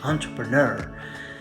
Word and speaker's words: entrepreneur: Entrepreneur. Right, but it's a French word. So let's pronounce it the French way.